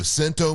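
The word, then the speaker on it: CNTO: It's spelled C N T O. Sento Moving. They're local, independent, family-owned, and awesome to work with.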